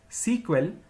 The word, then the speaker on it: SEQUEL: initially the language was known as Structured English query language pronounced as sequel which was later changed into SQL in the year 1978.